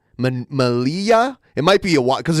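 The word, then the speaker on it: Melilla: how to pronounce it Malia Malia it might be a because a double l in Spanish is usually a y sound Mal like tortilla yeah yeah interesting so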